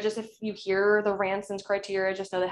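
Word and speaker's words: Ranson: sense um um and it's spelled r-a-n-s-o-n it's like ransom but with an n instead of an m um okay the other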